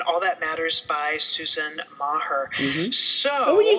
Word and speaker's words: Meagher: Novan, and All That Matters by Susan Meagher.